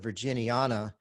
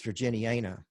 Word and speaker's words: virginiana: learned that at least the way he pronounces it is all the a's almost all the a's are long a's so instead of virginiana it's virginiana and so he's it's really really big on the long a's at least for him